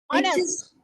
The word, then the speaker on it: honest: right he is an honest man not honest okay honesty is the best policy no honesty H is actually written in the spelling but not pronounced it's only honest okay that's how you